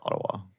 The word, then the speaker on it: Ottawa: And I don't say two T's. I say like a D, like Ottawa.